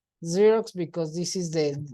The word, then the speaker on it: Xerox: consonant sound a you fism because this is pronounced as you a xerox machine Z zerox because this is the like a z sound